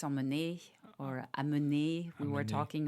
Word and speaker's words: emmener: to do incorrectly, is pronounce the end of a word that ends in ER. Yes. What am I doing wrong? Well, for example, on a verb, you said emmener. Yeah. And it's emmener or amener.